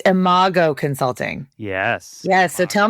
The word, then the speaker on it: IMO: I realized I didn't ask you how to pronounce that. IMO Consulting. IMO Consulting.